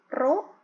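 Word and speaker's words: ρ: Tekanan hidrostatis itu itu P = roh dibacanya ro dikali G dikali h-pro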